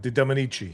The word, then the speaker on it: De Dominici: A rumor did the rounds online that Eva De How do you pronounce that? Dominici? De Dominici, yeah.